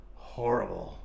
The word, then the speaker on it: horrible: And what about horrible? Horrible. Horrible or? Horrible. Horrible. Why is it horrible? Because you don't pronounce the H. You do not pronounce the H. The H is silent.